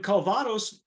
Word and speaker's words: Calvados: But a first for the brand, the blended aged tequila is then finished in Calvados casks. Am I pronouncing that correctly, Jim?